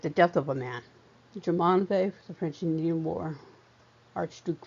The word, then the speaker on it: Jumonville: and Indian War at Jumonville Glen, spelled with two L's, but pronounced as a Y, since it's French, Jumonville.